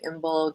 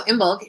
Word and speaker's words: Imbolg: So Imbolg is and you can see from the pronunciation that g, k, very similar sound.